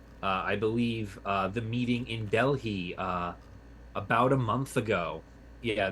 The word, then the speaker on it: Delhi: It's making the H come out instead of just skipping it You're, over it.